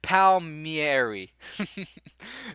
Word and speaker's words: Palmieri: Kyle Palmieri pal yeah I'm just gonna say Palmieri and I'm gonna just stick with that Palmieri and here's the thing at the end of the day if this dude pronounces his name differently then so be it but I'm pronouncing his name correctly okay pal pal mieri that's how you pronounce that name regardless if that's how he does it that's how you say it so if he